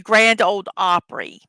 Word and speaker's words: Grand Ole Opry: The Grand Ole Opry.